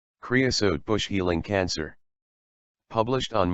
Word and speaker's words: creosote: it is the dominant desert shrub it is pronounced creosote creosote in bloom many people who are new to